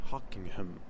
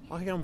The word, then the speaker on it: Hocquenghem: So I'm just going to jump right into the topic of Guy Hockingham. Just pronouncing it the way I learned to pronounce it, and I'm proud of it.